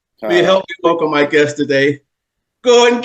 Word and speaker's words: Gorden: them the pronounced way to say it and spell it well it's Gordon and it's g o rde n not o